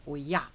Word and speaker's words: Oya: know about or yeah and that's how you want to pronounce it or yeah with the emphasis on the a and i know oya